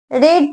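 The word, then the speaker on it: read: कर दिया बीइंग रे रीड रेड रेड spelling same प्रस अलग तो व रीड का रेड हो जाता है बाय मी फिर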